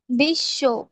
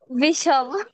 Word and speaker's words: বিশ্ব: এখন বটা উচ্চারণ করো তো দেখি, পারো কিনা, বটা নিয়ে উচ্চারণ করো তো তখন। বিষব। তাহলে তালবস্যটা দুইবার হচ্ছে কেন? এইটাই হচ্ছে নিয়ম। এইটা মানে বুঝে বটা উঠে গেছে, তালবস্যটা দ্বিত্ব হয়েছে। তালবস্য দ্বিত্ব মানে তালবস্যটা দুইবার উচ্চারিত হচ্ছে।